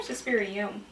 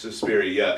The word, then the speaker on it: Suspiria: Was it Suspiria or Suspirium? It's Suspiria. In the movie, they talk about Mother Suspirium.